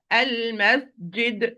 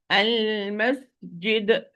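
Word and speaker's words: المسجد: Al-masjid, this is properly. Al-masjid, wrongly. Al-masjid, yid? No, it's jim, not yeah.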